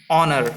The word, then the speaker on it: honor: Now 22, the word is honor. What is the word? Honor. Here H is silent.